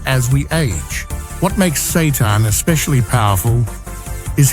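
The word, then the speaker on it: seitan: At first glance, Satan. Pronounced Satan doesn't sound like something you'd want to eat, but don't let the name fool you.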